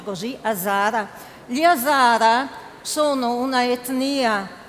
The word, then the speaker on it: Hazara: Lei viene dall'Afghanistan, dalla etnia degli Hazara, si pronuncia così, Hazara.